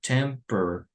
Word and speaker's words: temperature: No vamos a pronunciar la A, so we will just say temperature. Temperature, right? That's how we will pronounce it, temperature.